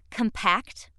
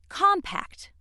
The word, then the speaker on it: compact: Which pronunciation you use depends on how the word functions in a sentence. Let's see how this works. If word for is being used as an adjective meaning closely and firmly packed together or if it is being used as a verb meaning to squeeze together, it is pronounced compact.